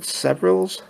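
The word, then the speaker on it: Severalls: next one is uh severals Hospital s it's spelled like several but the s-e-v-r-a-l-l-s hospital and that's in England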